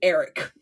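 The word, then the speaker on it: Airk: mostly in regards to Eric whose name is spelled A I R K but they just pronounce it Eric which is some white people naming if ever I have heard it.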